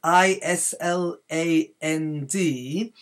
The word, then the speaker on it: Island: were read the word is la nd they pronounce the S but there are a couple of words in English where the S isn't pronounced and so Island is